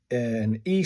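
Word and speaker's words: え: This one's an E sound, as in men, but just the E sound.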